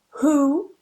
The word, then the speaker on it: who: pronounce the H but we don't pronounce the W for example hole who whoever and Holmes I don't pronounce that W they all start with a ha sound this time I pronounce